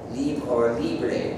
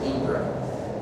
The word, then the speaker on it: libre: Another that we sometimes do is to use the French or Spanish word libre, or in English you might pronounce it libre.